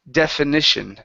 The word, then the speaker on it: definition: instead of definition okay this is a short e the word is de definition definition definition okay very nice and